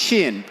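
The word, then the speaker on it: Shein: new channel to enter a market um is shin and I've actually confirmed with the company that's how you pronounce it um so we spent 15 years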